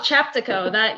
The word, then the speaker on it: Chaptico: Oh, Chaptico.